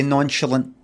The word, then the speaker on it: nonchalant: warm and deep beneath see I don't say nonchalant I say nonch theic and M thinks is